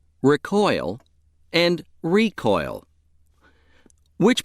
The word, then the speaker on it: recoil: The other pronunciation of word 13 is recoil. Recoil. This pronunciation is used when word 13 functions as a noun meaning the act of springing back.